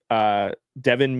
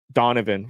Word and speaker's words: Donovan: Devin Mitchell. Devin? No, that's not how you pronounce it. Donovan.